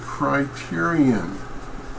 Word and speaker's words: criterion: Yes, you have, and this is another one that I hear mispronounced fairly often on the broadcasters and so forth. It's the word criterion.